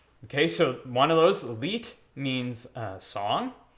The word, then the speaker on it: Lied: If it was the opposite, L-I-E-D, you'd say leet. Okay, so one of those, leet, means song, right?